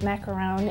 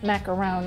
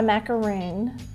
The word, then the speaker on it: macaron: The correct way to say macaron is macaron, like macaroni. It's not a macaroon, it's a macaron. But really the correct way to say it is macaron. The French way.